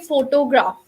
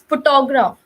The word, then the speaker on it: photograph: give you another example some people say photograph that is actually wrong pronunciation it's not photograph it's photograph or photographer okay so you have to